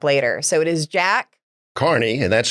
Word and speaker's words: Carney: give a speech and people have trouble pronouncing it kearney or kearney i always tell them you drive a car and this is your knee just carney hey i like that